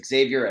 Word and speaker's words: Xavier: talk about Xavier Edwards I think that's the right American pronunciation is that correct let's start Xavier is that right yes Xavier Edwards I've struggled with